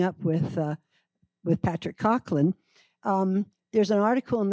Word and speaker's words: Coughlin: pronounced Cochland, which you you'll also find if you do